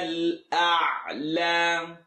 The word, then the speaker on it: الأعلى: ربك الأعلى. ربك الأعلى. ربك. The a sound. ربك الأعلى. سبح اسم ربك الأعلى. Please don't say أعلى. The ayn is not heavy, nor is the lam.